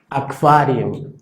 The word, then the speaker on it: Aquarium: Y cuando se hace esta combinación QU, la tendencia es que pronunciamos un sonido como si fuera una K y una V, y se pronuncia kve, kvele, kvele. O, por ejemplo, aquarium, aquarium. ¿Sí? No suena la U, kve, aqua, kvele, aquarium.